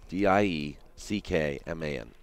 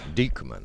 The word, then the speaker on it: Dieckman: D-I-E-C-K-M-A-N. Right. Pronounced freak. Dieckman, I mean.